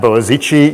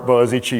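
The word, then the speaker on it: Boğaziçi: my my great pleasure to be here at boazichi University did I pronounce that almost correctly yes it's a very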